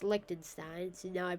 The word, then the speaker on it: Liechtenstein: A lot of people pronounce it Liechtenstein, but my dad told me that it was pronounced Liechtenstein, so now I pronounce it Liechtenstein.